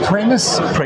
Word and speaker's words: Pramas: So, it's pronounced premise. It rhymes with famous.